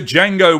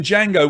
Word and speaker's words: Django: so what's silent in django what does he say yeah i had a feeling lots of you would get this he does indeed save a d but d is silent 84.5 percent of you